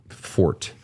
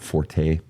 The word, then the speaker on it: forte: singing is not your fort and just for the record people it's not Forte that root is not found in French it's not Forte it's actually Fort it's Latin by the